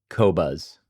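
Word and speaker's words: Qobuz: off, but it's Q O B U Z Kobuzz.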